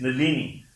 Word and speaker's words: Nalini: The Indian word Nalini is Nalini because of a rule in English which says you stress the penultimate syllable.